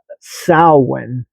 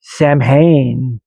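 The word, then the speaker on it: Samhain: a m h a i m but it's pronounced sin uh which is so strange because if you were to look at that word it would you would you you want to say samhane is what you would want to call it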